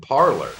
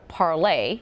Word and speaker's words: Parler: compete with Twitter called Parler. A new social media app has caught the attention of some high-profile conservative figures. The app, called either Parler or Parlay, depending on how you pronounce it, currently hosts 100,000 users,